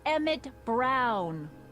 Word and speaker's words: Emmett Brown: bill to a tee that's Emmett Brown rhymes with clown which I'm beginning to